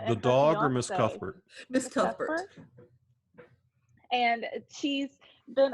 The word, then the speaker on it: Cuthbert: So the second one is The Passion of Miss Cuthbert.